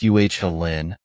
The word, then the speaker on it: Ullin: I'm almost 25 years old, and I've lived in a tiny village called Ullin, pronounced Uhlin, for about 2 years now.